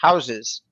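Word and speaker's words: Houzez: say this correctly is pronounced houses but with Z's h o u z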